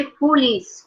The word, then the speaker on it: police: इसको हम बोलेंगे इसको हम प्रोनाउंस करेंगे पुलिस. पुलिस. Police. police, police, पुलिस मतलब थोड़ा सा, हाँ, डबल ई पे स्पेस हुआ प्रोनाउंसिएशन.